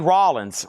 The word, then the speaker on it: Rollins: Yellow Jackets Club Nocturn Yellow Jacket self-titled Sunny Rollins rhymes with Collins.